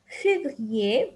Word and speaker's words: février: Février, we also don't pronounce the R.